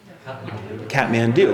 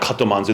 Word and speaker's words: Kathmandu: Kathmandu, right. And of course I was like, that's not Katomanzu, that's Kathmandu.